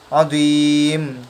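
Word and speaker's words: عظيم: Lalu dia tetapi dia dibaca sukun karena dia waqaf. Azim. Cara bacanya panjang 6 harokat.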